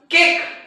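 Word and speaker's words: cake: शब्दांमध्ये लक्षात घ्या बघा या सर्व शब्दांमध्ये इ जर आपण लिहिला नाही तर त्याचा ए उच्चार होणार नाही आणि दुसरी एक गोष्ट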